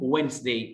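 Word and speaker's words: Wednesday: الاربع يعني وينسداي، بلاش وينس، وينس داي، وينس داي على طول، ادي هنا سايلنت ليدر، وينس داي، وينس داي.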